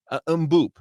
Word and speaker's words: Mboup: scholarship player being kadim umop and now if I'm pronouncing that incorrect ly I am going off what I saw on multiple videos where he pronounced his own name now he is a